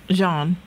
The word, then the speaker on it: jaune: It says here, the translation is, it's actually got a name in French, the Malo Jaune. Am I saying, how do you say yellow in French, Robin? Jaune. Jaune, okay. But Americans call it the Mellow Johnny.